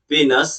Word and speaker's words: penis: पीनस, कभी इसको पीनस बोला जाता है, पेनिस आपके हिसाब से इसको प्रोनाउंसिएशन कर लो।